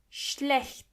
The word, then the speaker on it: Schlecht: In the German language, when you see a C and a H, together they are H. It's not a strong H, but more like a softer one. H. For example, Milch. Milch means milk. Schlecht. Schlecht means bad.